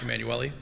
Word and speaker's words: Emanuele: You were close. It's Emanuele.